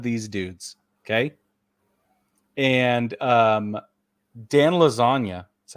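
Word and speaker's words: Iassogna: each one of these dudes okay and um Dan lasagna that's how you say his name his accuracy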